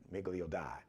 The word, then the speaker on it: Miglio Di: He is on Instagram, Miglio D, but the D is D-I. Miglio D, Miglio Di. It's Italian, so Miglio D. I didn't take Latin. So Miglio D-I, it's spelled Di.